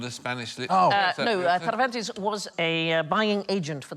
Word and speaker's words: Cervantes: No, Cervantes was a buying agent for the Spanish Armada. Very good pronunciation of Cervantes.